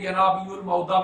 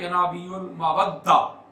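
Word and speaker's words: ينابيع المودة: کے ساتھ سمجھے نقطہ۔ ہمارے برصغیر میں عرف عام میں ینابیع المعودہ بھی پڑھتے ہیں، لیکن مصر میں یا جو اس کا تلفظ جو اہل علم کے ہاں ہے وہ ہے ینابیع المودہ لذوی القربہ۔ ٹھیک ہے، 2 طرح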